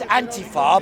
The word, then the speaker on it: Antifa: Antifa, that's what it is, not Antifa. Antifa. And Antifa, fa is for fascismus.